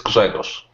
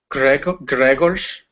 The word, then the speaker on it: Grzegorz: the first letters is hard G. G. Later it is Ż. Later there's no E, is like in Spanish, I think. E, not E, E. Later G, another hard G. Later not O, it's like O. So there's a short sound, and later Ż.